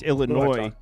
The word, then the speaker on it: Illinois: Someone said it's Illinois. I was talking about a comment. It said it's Illinois, dude. You don't pronounce the S, idiot.